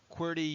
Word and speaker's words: QWERTY: It's pronounced QWERTY you up.